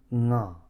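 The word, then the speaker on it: ང: Si vous entendez ce que je dis correctement, nga est un ton bas.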